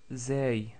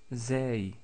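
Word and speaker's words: زاي: Ensuite, nous avons vu la lettre Zay, Zay, qui est facile à prononcer parce que c'est l'équivalent de la lettre Z en français, comme dans le mot Zaytounatun ou Zaytouna tout court.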